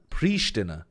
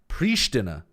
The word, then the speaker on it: Pristina: Pristina. Pristina. Is that how you pronounce it? Oh, no. It says that you can pronounce it as Pristina or Pristina. Either one.